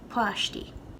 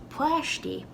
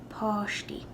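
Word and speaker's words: páistí: subtle but definitely there poshti and i've even heard this being pronounced plashti in ulster in other dialects it's going to sound more like poshti poshti because the a with an accent mark has an all sound whereas in ulster it'll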